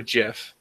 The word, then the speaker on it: GIF: right how wait okay gif or Jif uh it's technically pronounced jiff but you can say it either way okay because people like